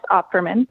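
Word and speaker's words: Opferman: For the record, my name is Operman. that is spelled O P F E R M.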